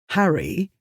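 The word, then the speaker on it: Harray: He lives in an area near the Loch of Harry, spelled A-Y but pronounced Harry, so he calls himself the Harry Potter.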